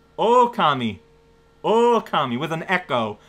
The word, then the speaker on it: Okami: don't know anything else oh that's how you pronounce the game oh kami oh kami with an